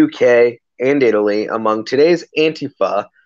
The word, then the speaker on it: Antifa: and Italy among today's Antipa the shorthand for anti-fascist in many languages also in other places pronounced on Tifa just so that you know just so that everybody knows that this Anglo knows that she's pronouncing it wrong but yeah at the